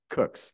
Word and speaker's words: Cooks: you for your presentation Mr cook C cook Cooks yeah Cooks thank you I'm sure you've